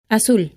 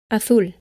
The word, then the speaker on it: azul: A, O, or U, it is usually pronounced S. Zapato, zona, azul. With the exception of most of Spain, where the theta is used and is pronounced th, similar to the th in think and thank you.